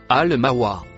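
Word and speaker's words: المأوى: Le dernier mot bleu se prononce Al-Mawa.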